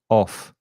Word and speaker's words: off: if you listen carefully double f o double f is only from my teeth off off one or one f of there's also vibration in the throat here if you